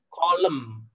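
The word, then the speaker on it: coulomb: C itu bacanya kolom.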